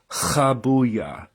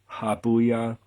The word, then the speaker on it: Habuiah: the proper pronunciation is kabuya kabuya and if you have trouble doing that you can just pronounce it like the letter H habuya um now Johan royin